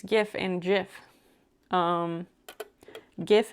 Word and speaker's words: GIF: GIF is correct. Like gift, but no T. Jif is a brand of peanut butter in America, so it's not that one.